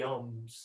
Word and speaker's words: Om: And bringing that sound of Om then to that exhalation. And if we were to spell it out, it would be A-U-M.